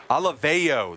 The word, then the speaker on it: Olivao: Olivao, that's how you say it.